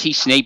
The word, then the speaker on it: t-SNE: It's pronounced T-SNE, but it's T-S-N-E, and basically it's a method of dimensionality reduction.